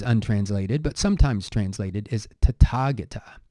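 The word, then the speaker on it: Tathāgata: but sometimes translated is tatagata in Pali this th is a sound it is not a tha tha is actually um very difficult phoneme to pronounce for most people in the world so to Target a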